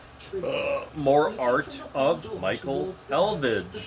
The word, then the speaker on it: Elvidge: And I'm so bad with names, so I know it's Michael, but the last name is pronounced Elvage.